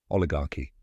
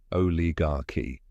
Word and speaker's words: oligarchy: Then comes gar with a strong emphasis, rhymes with car. Finally, key, which sounds like the letter key. Now say it with me. Oligarchy.